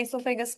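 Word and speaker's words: oesophagus: यहां लिखी भी हुई है इससोफेगस की स्पेलिंग। ओ इससोफेगस। साइलेंटस हां या we have to put silent हो। ओ साइलेंट है।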